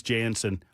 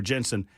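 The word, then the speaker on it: Janson: free show uh starring uh country star Chris Jansen or Jensen.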